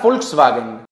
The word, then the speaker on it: Volkswagen: Por ejemplo, los alemanes normalmente pronuncian la V como F, como es el caso, por ejemplo, de la palabra Volkswagen.